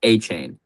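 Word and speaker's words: Etienne: It's not pronounced ETN. It's pronounced Achain or like ATN."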